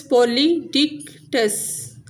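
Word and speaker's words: Polydectes: Next है pronunciation guide, जैसे ये डेने, ऐसे परस्यूस, पर सीऊस, पोलिडिक्टस, पोलिडिक्टस, मेडूसा, मेडूसा, एंड्रोमेडा, एंड्रोमीडा, ऐसे डिक्टस, डिक्टिस।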